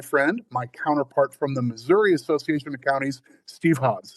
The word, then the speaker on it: Missouri: Um I have some extended family who they would pronounce it Missourah while most of the world pronounces it Missouri.